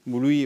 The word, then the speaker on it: Bluey: Je ne prononce pas bien. Bluey. Bluey, ouais.